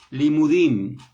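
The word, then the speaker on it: לימודים: Mire, esta palabra estudio en hebreo significa o se pronuncia limudim.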